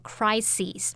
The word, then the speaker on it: crises: 再来看到 crisis C-R-I-S-I-S，那这个字是表达危机。那像刚刚 Roger 老师有提到 midlife crisis 就是中年危机的那种意思。好，那特别注意这个单字它的复数形式把 I-S 改成 E-S 念作 crises，它是不规则变化，需要特别注意一下。所以我们这边公卫危机你可以说 public health crises 或是 public health emergencies。